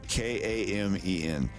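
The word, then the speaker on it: камень: Okay, stress is on the A, so it's common. Kamen. Common. It means stone, but it has a little soft sign here. So instead of common, it's more like common, like common, like you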